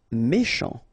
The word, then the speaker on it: méchant: Méchant. Final T not pronounced. C-H together, sh.